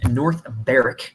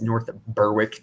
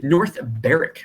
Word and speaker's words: North Berwick: that I do think Renaissance is the correct pronunciation so the Renaissance Club is a course in North baric if anyone says North Berwick then they probably don't know what they're talking about North baric Scotland um it is a par s it